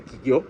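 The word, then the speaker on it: 企業: acerca de las Black Kigyo, las empresas negras, pronuncia Kigyo, por cierto, y estas empresas que tienen, sí, efectivamente, políticas y prácticas éticas bastante dudosas.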